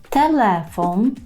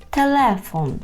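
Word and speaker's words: telefon: прикріплював його щоб переглянути телефон телефон кілька разів за мною старайтеся повторити знову ж таки наголос падає на склад ле бо він перед останній не телефон а телефон окно так окно передостанній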